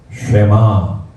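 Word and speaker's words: שמע: 쉐마. 쉰을 나중에 배울 겁니다. 쉰. 예. 이렇게 되는 것도 에 발음이에요. 쉐. 맴이죠. 아 발음 납니다. 마. 뒤에는 오늘 배운 아인입니다.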